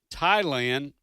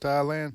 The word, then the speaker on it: Thailand: was the nation of Thailand with that uh with that uh silent h which was the the